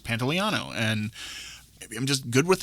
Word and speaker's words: Pantoliano: um is that was good that you said pantoliano like that very good because there were a